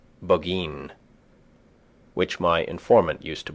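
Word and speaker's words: Burgoyne: He pronounced it boin which my informant used to borrow.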